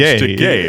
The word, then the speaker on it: Takei: And I'll go, It's George Takei. Takei. Rhymes with okay.